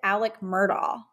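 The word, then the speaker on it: Alex Murdaugh: it Alec or Alex well so it's spelled Alex but when you hear him talk and um when he pronounced his name in court and some of the footage he says Alec murdaugh because the girl um Paul's girlfriend in the documentary kept calling him Alec like a-l-e-c but the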